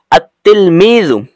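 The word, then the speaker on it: التلميذ: অর্থ ছিল একটি ছাত্র আর যখন তিলমিজ শব্দের শুরুতে একটা আলিফ লাম যুক্ত হবে তখন উচ্চারণ হবে আত তিলমিজু তখন অর্থটা হবে ছাত্রটি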